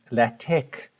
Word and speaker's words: LaTeX: the student asks the big question la tech or word and that's how you pronounce the tecla tech is a type of